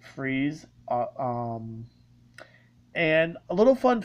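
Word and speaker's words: Fries: his real name is dr victor freeze uh with freeze um spelled pretty much the same way as fry's f-r-i-e-s but it's pronounced freeze um and a little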